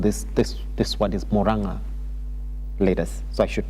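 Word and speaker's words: Murang'a: September 12th, Moranga leaders, I was told this this this word is Moranga leaders. So I should pronounce it correctly. Moranga leaders.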